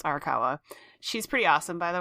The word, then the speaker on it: Arakawa: hiro oh god i'm going to say her name wrong hiromu arakawa i know it's arakawa she's pretty awesome by the way her uh